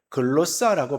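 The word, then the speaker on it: γλῶσσα: 글로사라고 발음을 하는데요.이 이 단어는 신약 성경 여러 곳에서 사용되어지는데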